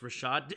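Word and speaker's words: Rachaad: Mayfield and the Buccaneers it's pronounced Rashad am I going did I go back to rad we established this in the Eagles game that it's Rashad and I went back to ricad White didn't I here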